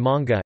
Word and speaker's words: mga: Ayan ang mga damit ko, those are my clothes, are abbreviations that are pronounced nong na and manga ma.